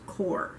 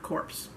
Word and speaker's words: corps: signal corps and yes even though it's spelled c-o-r-p-s is pronounced core not corpse february 23 1870 mississippi